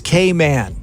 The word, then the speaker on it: Cayman: how people do it when people call it the Caymans yes yes please it is k-man yeah okay so anybody listening